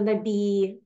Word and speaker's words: Nabis: the Nai Ori um you don't pronounce the s in French so um the at